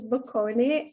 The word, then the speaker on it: Bocconi: And here I was looking forward to you doing the pronunciation. Okay, I'll do it after you. It's l'Università degli Studi Luigi Bocconi a Milano, Italia.